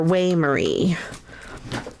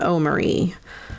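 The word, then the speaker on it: Oi Marì: me, O Marie or Way Marie, in Italian and in English, and he would play it on the mandolin. I think in English it's called O Marie, but in Italian it's Way Marie.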